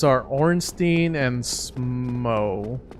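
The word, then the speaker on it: Smough: names are ornstein and smo i pronounce it it's spelled like if it's english it's spelled smoth like rough and see you later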